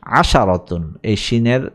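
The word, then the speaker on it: عشرة: সামানিয়াতুন আসসাতুন নয় আশরুন আশারতুন এইটাকে লক্ষ্য করার বিষয় আশারতুন এখানে ব্র্যাকেটে লেখা বাইনাল কাসাইন লেখা আছে আশরুন আশারাতুন শব্দ দুটিতেশিনের হরকতের বিষয়টি মনে রেখো এটা মনে রাখা জরুরি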